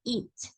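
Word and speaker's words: eat: En el caso de la palabra it, lo que hacemos es comernos esa A, hacer como que si no estuviera ahí, porque esta A no se pronuncia. Entonces, como pueden ver, en realidad la pronunciación, y ambos lo dijeron bien, solamente se dice it. No se pronuncia en ningún momento la A.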